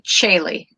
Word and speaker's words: Caeli: It's actually Caeli. Caeli. Okay. Yeah, there's an invisible H in there. Yeah, well, I like that. And it's not spelled like the usual Caeli, and so therefore confuses people. It's Latin. It's Latin for heaven.